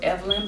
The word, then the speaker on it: Evlyn: I said it before it's Evelyn but it's spelled e v l y n and the color is